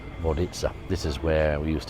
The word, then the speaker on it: Vodice: Hope to um vitaa or vodis as it uh as it's spelled but it's actually vitza this is where we